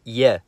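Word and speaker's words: е: Let's take a look at your stereotypical letter E, known as ye in Russian. It can make the sound or ye, depending on its position in a word and the letters around it.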